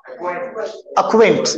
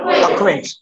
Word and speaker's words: acquaint: Okay, let's read some words wherein Q is silent. Yeah, how do you pronounce it? Acquaint. क्या बोलेंगे? Acquaint.